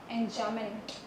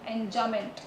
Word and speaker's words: enjambment: Enjambment. Enjamb, ब नहीं बोलते हैं हम. Enjambment. B is silent, but we have to write B.